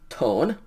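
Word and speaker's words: τῶν: Okay, we still are using the omega nu, and so this is tau omega nu, tone.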